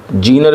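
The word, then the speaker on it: Zener: देखिए question number 40 है, what is जेनर diode. जेनर diode क्या होता है। जीनर भी कहते हैं हिंदी में, प्रोनाउंसिएशन इसका जेनर भी कहते हैं, कुछ भी कह सकते हैं आप, कोई दिक्कत नहीं है।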